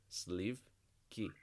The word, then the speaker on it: сливки: sleeve I don't think I quite persuaded you sleeve key sleeve key sleeve key so if you don't